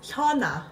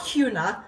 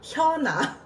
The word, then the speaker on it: HyunA: Guys, as Korean people, her name is Hyuna. Get used to it. Not Hyuna, Hyuna. I want to correct them when they say it like this.